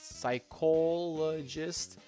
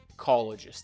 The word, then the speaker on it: psychologist: If if if we were to write side, it would imply it being pronounced pyist. Psychologist sounds okayish in British English, but make sure you don't pronounce the du sound. Not psych. Psychologist.